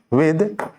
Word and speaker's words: with: लेकिन इसकी pronunciation विथ नहीं होती, विथ कहना गलत होता है, इसकी प्रोनाउंसिएशन क्या होती है, विद, आधा दो, विद।